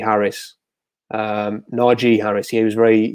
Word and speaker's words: Najee: city and then maybe naji harris um najee harris he was very he did an interview yesterday complained about people mispronouncing his name no g harris i have to get